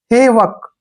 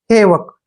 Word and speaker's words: havoc: यहां पर HA का उच्चारण हम हे करेंगे, क्या पढ़ेंगे, हे, और VO का उच्चारण यहाँ पर वह करेंगे, और C का उच्चारण क करेंगे। जब भी C से पहले O आता है तो C का प्रोनाउंसिएशन क करते हैं। हेवक, क्या पढ़ेंगे इसको, हेवक। हेवक होता है दोस्तों विनाश,